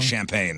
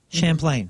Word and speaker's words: Champlain: to say I it wanted to say wrong champagne. by saying it right. Champlain.